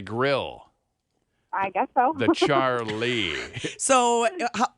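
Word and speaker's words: Charleigh: jess c h c-h-a-r-l-e-i-g-h oh charlie like like a lee served on a grill i guess so the charlie so how did you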